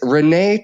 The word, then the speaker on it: Renee: Brandon Morton is our producer and today my guest is Renee. Renee, welcome to the show. Did I pronounce your last name correctly?